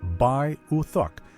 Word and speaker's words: Beothuk: The Beaothuk language shares some roots with Algangquian, but is now classified as distinct Beaan. Pronounced Bay UK.